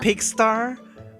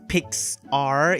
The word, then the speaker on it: Pixar: is pick star films did you just say pig star Pig star what's that pronouncing it it's Pixar it's like p-i-x-a-r how